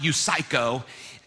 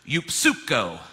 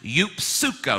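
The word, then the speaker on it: εὐψυχῶ: Greek it's not pronounced you psycho you actually pronounce that P and the S the why instead of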